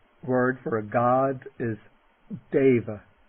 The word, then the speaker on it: deva: way okay the word for a god is deva deva and the o is pronounced like o the word meaning he is